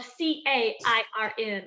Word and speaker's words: cairn: But as a trail marker, it's called a cairn, and that's spelled C-A-I-R-N, a cairn.